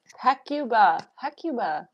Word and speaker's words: Hecuba: Like succubus. Hecuba.